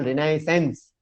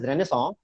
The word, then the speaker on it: Renaissance: This is actually somewhat belongs to the Renaissance, or in which Hindi we call Renaissance. So actually the real pronunciation is Renaissance.